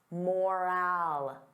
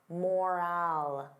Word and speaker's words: moral: Now compare that to moral. Moral. The sound is less stressed. I don't open my mouth as wide.